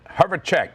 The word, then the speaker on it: Herjavec: 1963, Robert Herjavec, how you pronounce it? Herjavec, that's it, 54, on ABC's Shark Tank.